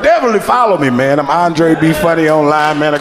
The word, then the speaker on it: Anderi: you ain't coming up that's pronounced andre i don't know if y'all been looking like who in the world is that and dairy i had them they